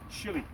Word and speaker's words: Chile: the founding father of Chile we say chili Americans say Chile but anyway chili we're